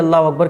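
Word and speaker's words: الله أكبر: अब दोनों को जब आप मिलाएंगे तो हो जाएगा अल्लाहु अकबर। अकबर अकबर, कुछ लोग अकबर नहीं अकबर, अल्लाहु अकबर। तो ये सही प्रोनाउंसिएशन है, अल्लाह अकबर ऐसा नहीं।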